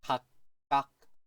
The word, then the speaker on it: 각각: 각각. 이것도 마찬가지. 각. 두 번째 글자 읽을 때 이 각자가 끄로 바뀌어요. 그래서 각각이라고 읽어주시면 돼요.